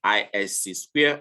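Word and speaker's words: ISC²: which in a small in a short form pronounced at isc square formed in 1989 is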